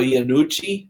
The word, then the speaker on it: Iannucci: This is from, I believe, Armando Iannucci. That's how you pronounce his name.